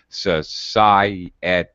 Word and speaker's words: society: Sometimes, for example, in a word like, for example, society, the I and the et are both pronounced, but we separate them with what's called a glide, a Y or a W sound. So society is actually 4 syllables, 4 unique, distinct vowel sounds, strangely enough.